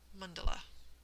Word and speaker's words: mandala: to them, which is that indistinct sort of a vowel sound that so many vowels share. And so it's something like mandala.